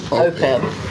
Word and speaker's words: OPEB: You can see the How do you pronounce it? OPEB? OPEB, yes.